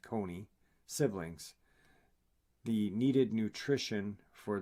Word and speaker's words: cune: Each embryo can and does divide into 6 and to 9 individual cune, pronounced coney, siblings.